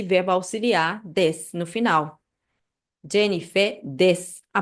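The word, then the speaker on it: です: Esse u no final, a vogal u no final, você pode até cortar na hora de pronunciar para soar mais natural, tá?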